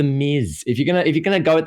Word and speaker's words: Miz: Or the Maz. Like, it's the Miz.